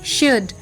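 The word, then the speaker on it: should: डी कुड एस एच ओ यू एल डी शुड डब्लू ओ यू एल डी वुड एस ए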